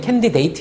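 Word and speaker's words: candidate: 아웃 이라고 발음하는 게 원래 좀 많은데 얘는 캔디데이트 이렇게 발음 하기로 해요 2 왜 발음 가 때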